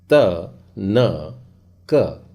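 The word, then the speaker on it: תנ״ך: यह है ताव, नून, योद और काफ। फाइनल काफ होने की वजह से उसकी डंडी आपको सीधी लंबी नज़र आ रही है, तो इसका उच्चारण क्या हो जाएगा? त न क, तनक।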